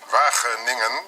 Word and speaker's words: Wageningen: Wageningen. It's very difficult for you to pronounce.